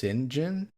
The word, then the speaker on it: Cyngn: It's now known as, I guess, pronounced Cyngn. It's spelled CYNGN.